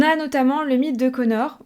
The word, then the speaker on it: Conchobar: On a notamment le mythe de Connor. Oui, rappelez-vous, ça s'écrit Conchobar.